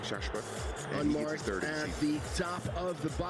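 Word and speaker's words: Chahechouhe: That's how you say it in Arabic, Shashwa.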